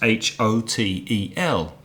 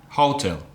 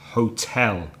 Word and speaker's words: hotel: But an example of a word with two syllables is H-O-T-E-L. Now, some Spanish speakers might pronounce that hotel, but we know the stress is on the second syllable. So it's hotel, hotel.